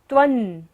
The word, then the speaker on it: त्वं: अंश की तरह पढ़ेंगे। त्वं, त्वं शंकरोऽसि, तालव्य श है, तालु से हमें उच्चारण करना है।